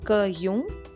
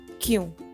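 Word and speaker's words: क्यों: Again here the ka is half. So it's not pronounced in its entirety as kayun, kayun, no. It will be pronounced as kyun. That is half ka followed with a ya sound, kyun.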